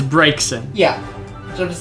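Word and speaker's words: Braixen: I still keep pronouncing that Braxican, even though It's there's not. no K in that word. Exactly. But it's because it's Finnegan. And so I'm like, well, Finnegan, it must be Braxican. And it's not. And it's not. And It's- I'm just like, fuck. It's Brakeson.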